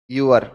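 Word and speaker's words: ewer: देखो यह जो वर्ड दिया हुआ है ई डब्ल्यू ई आर इसका सही उच्चारण है ह्यूअर। क्या है? यूअर।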